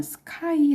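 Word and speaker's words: sky: 그림이 나와 있는 사실이네요 4 이하늬를 뭐라고 하냐면 스카이 라고 발음합니다 스펠링은 s k y 합니다 자 l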